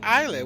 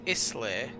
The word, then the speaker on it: Islay: isla is it really you pronounce it eilee without the s okay my granddad i always thought it was isla and my granddad said